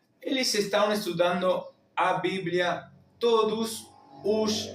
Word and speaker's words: todos: Eles estão estudando a Bíblia todos os dias. Acá tenemos estão, tenemos la tilde como en baum, estão estudando a Bíblia todos, la OS final cerrada, casi produciendo el sonido de la U, todos, os dias,